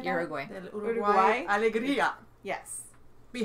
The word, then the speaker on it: Uruguay: Uruguay.